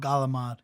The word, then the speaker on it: calamari: Well, we make fun of people that's called galamad. They almost it's almost like pronounce it's the R like G. an L, right? A little Yeah. bit. They're Well, like well, they call calamari. it like in Sopranos would be galamad with Oh, it's GAL a G.